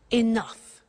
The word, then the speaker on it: enough: she doesn't have enough money now this word enough enough it's written e n o u G H the pronunciation is enough what does it mean let